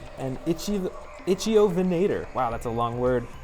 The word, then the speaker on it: Ichthyovenator: This first brand new one, I believe is pronounced an Ichthyovenator.